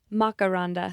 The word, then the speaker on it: Makaranda: Makaranda? Close. Makaranda. Makaranda.